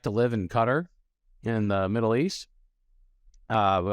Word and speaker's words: Qatar: Some pronounce it Qatar, Qatar, but my friends who live there all made me change the way I say it to Qatar.